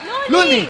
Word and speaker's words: Loonie: Looney. Rhymes with Luigi.